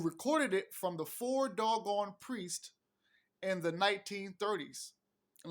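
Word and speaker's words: Dogon: in the 1930s and that's doggone not like dong gone but anyway dog gone before doggone priest in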